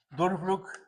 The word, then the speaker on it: Durchbruch: Se pronunciaría Durchbruch zum Beil, que eso sería el empuje a la mujer, ¿no?